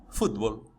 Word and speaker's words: fútbol: Vejamos: democracia, cerebro, imbécil, imã, álcool, alguien, alergia, cráter, elogio, academia, atmósfera, fútbol, gaucho, límite, oxígeno, régimen. Viu que a sílaba tônica é diferente de como se pronunciaria essa palavra em português?